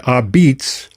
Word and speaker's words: apizza: And they put the word Ah-beetz on the boxes and on the signage. Yeah. It's not pizza. I mean, it's spelled A-P-I-Z-Z-A, right?